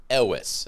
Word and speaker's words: Elwes: Elwes, I think, I'm just is how it's pronounced. Elwes. I'm just gonna Not Saw Ellis.